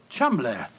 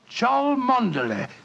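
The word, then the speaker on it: Cholmondeley: Being an American, he had no reason to know that the name Chumley is in no way pronounced the way it is spelt. But I never thought of that. Chumley.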